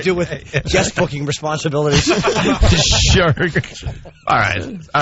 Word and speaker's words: Shrek: Shrek. All right, so it's spelled SHERK. Yeah. And how do you pronounce that? Trek?